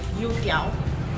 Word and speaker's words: youtiao: And the first thing we're gonna do is get yutiao from this amazing place.